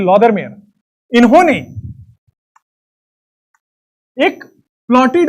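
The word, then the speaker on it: Lothar Meyer: This is नॉट ल्यूदर मेयर, this is लॉदर मेयर।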